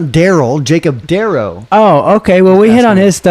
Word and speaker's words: Darrow: It's Darrow. I said Jacob Darrow. Oh, I thought you said Daryl. Not Daryl. Jacob Darrow.